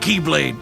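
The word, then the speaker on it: χ-blade: he means the x-blade it's just pronounced like keyblade even though it's just one keyblade ah the series is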